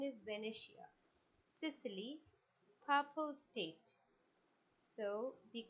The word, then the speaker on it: Venetia: The options are Sardina Fedmont, Venicia. The correct pronunciation is Venetia, Sicily, purple state.